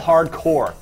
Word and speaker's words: Hard Corps: for a game called Hardcore. Now, I know you can tell by my very subtle pronunciation that it's actually spelled C-O-R-P-S, not C-O-R-E, Hardcore.